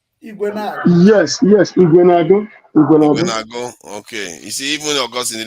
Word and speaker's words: Ekweremadu: Yes, Ekweremadus.